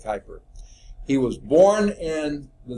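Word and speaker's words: Kuiper: pronounce his name but we usually say hyper okay i'm guessing just the way usually it's pronounced that would be quie per but we use as like hyper he was born in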